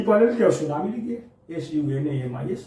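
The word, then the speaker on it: tsunami: और सुनामी का अगर स्पेलिंग कोई पूछे कि परीक्षा में पूछ जाता है कि सुनामी का चीज बताइए, टी साइलेंट होता है, टी पायलट क्या, सुनामी लिखिए, SUNAMIS हो गया सुनामी।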